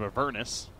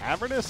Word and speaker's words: Avernus: Also, Curse of Avernus. Is it Avernus or Avernus? I pronounce it Avernus. I've heard it pronounced Avernus, though.